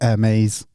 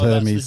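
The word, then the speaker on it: Hermès: but they call it they call it air maze but it's called Hermes the joke is it no no that's how they pronounce it like that's a serious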